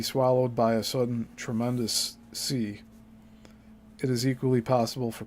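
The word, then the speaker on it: seiche: there also exist other very destructive and unusual SE waves this word is spelled SEI CH usually the product of underwater landslides caused by the pulling apart of a fault in the Earth's crust The Siege waves smaller in height are not as Sensational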